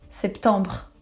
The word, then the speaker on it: septembre: Septembre instead of September.